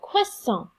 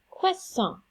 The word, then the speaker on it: croissant: Bonjour, this week we're going to work on the letter combination OI in French with our pronunciation, and that just says wa, like WA in English, with a short A sound. So, we have croissant, croissant, oiseau, oiseau, moi, moi, toi, toi, poisson, poisson.